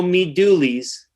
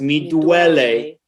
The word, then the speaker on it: Mi Duole: so hole you know okay so there's no me dooley's it's me duele there's no voller there's but you know probably